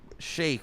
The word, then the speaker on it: sheik: it's Shake James Hetfield shake what is you don't know what a shake is no I don't know what a shake I'm confused sh a Sheik it's pronounced Shake I don't [ __